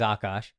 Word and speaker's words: Akaash: Akaash, which is Akaash. All right. A like aardvark.